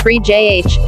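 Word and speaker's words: Phryges: That triangular red blob with eyes is called the Phrygies, pronounced free JH, and it's actually a hat that comes in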